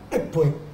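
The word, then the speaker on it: Ekpe: Cuba, don Fernando Ortiz, Ekwe se pronuncia muy parecido a Empe, porque la escritura inglesa E-K-P-E viene a sonar como Ekwe.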